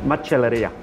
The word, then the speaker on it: Macelleria: well well pronounced that's enough how do you pronounce it much Alethia excellent now this place since day one we